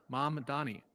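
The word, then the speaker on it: Mamdani: So, I would say I would pronounce that as mom, like my mom, and then Donnie, like a girl named Danny. But I'm changing the D to an O.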